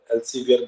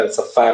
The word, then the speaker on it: Elsevier: मैंने article publish किया, वो एल्साफायर के पब्लिकेशन में, मतलब एलसीवीआर बोलते हैं, मैंने शायद आप लोगों को बताया होगा, एल्साफायर उसका प्रोनाउंसिएशन है।